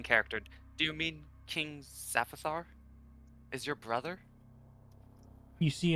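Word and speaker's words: Syphaphar: I don't know how to pronounce that. It's Saphithar.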